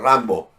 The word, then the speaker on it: Rimbaud: En inglés, Rambo, lo pronuncian Rambo, ¿no? Por eso le ponen Rambo.